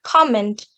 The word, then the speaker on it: comment: a sentence for example the vietnamese speakers usually mispronounce the word comment by raising their voice at the second syllable meant when being pronounced like that the word comment can be understood at command by english native speaker so as you can